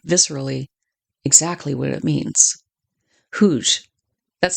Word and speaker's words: Hooge: They're close enough to what happens at Hooj on July 30th, 1915 to understand immediately, viscerally, exactly what it means. Huge That's spelled H O O G E.